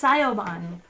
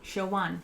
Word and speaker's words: Siobhan: So is it Shoban? I was reading that as Sayoban. Kind of like the Lord of the Rings guy. Siobhan. Shoban. Okay.